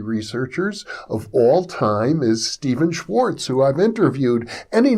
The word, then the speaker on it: Stephan: Now, Stephen is known, or Stephan, I guess is the correct pronunciation of his name, spelled S-T-E-P-H-A-N. Anyhow, he's known for his